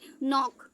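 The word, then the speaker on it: knee: एन से पहले आया के, जब भी एन से पहले के आएगा तो वो साइलेंट होगा, तो इसको क्या पढ़ती है, नॉक।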